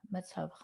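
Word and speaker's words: מִצְוָה: That's a silent shva. Meets. Meets wrote. No, it's not. A resh is wider. It's a vav. Meets. It's a V sound. Ra. Or va. Meets va. Mitzvah. Mitzvah. Mitzvah.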